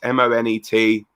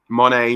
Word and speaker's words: Monet: as frankie monet or monet m-o-n-e-t money monet however you want to pronounce it but that is